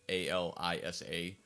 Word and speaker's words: Alisa: they just went with a l i s a um so really that like grammatically that probably should be alisa and alyssa if it was two s's but um yeah again